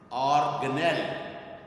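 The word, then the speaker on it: organelle: یعنی اس کو ٹیچرز اور اسٹوڈنٹس اکثر آرگنیلی پڑھتے ہیں، آرگنیلی، حالانکہ یہ ورڈ آرگنیلی نہیں ہے، اور اس کا جو کریکٹ پروننسیشن ہے وہ ہے آرگنیل، آرگنیل، آرگنیل، ٹھیک ہے.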